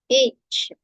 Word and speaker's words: H: Next one ஹெச். ஏ சவுண்ட்ல தான் நீங்க சொல்லணும். சரிங்களா? AYCH. அப்ப ஏ சவுண்ட்ல நீங்க சொல்லணும். H.